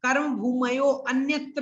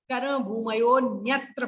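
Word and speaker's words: कर्मभूमयोऽन्यत्र: अच्छा उच्चारण ठीक करना है तो ये कर्म भूमयो अन्यत्र नहीं, कर्म भूमयो न्यत्र पढ़ना पड़ेगा, क्योंकि अवग्रह का उच्चारण नहीं होता, पहले आपको बता चुका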